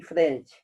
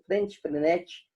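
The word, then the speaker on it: Freinet: Quem defende muito é Arroio e Frente. Frenete, depende da pronúncia da pessoa.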